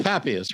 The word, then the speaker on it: Papias: So it's Papias, right? That's the correct pronunciation?